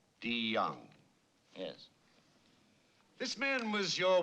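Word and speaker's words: Deong: Chai Kyang. The name is DeYoung, sir. It's pronounced with a D. DeYoung.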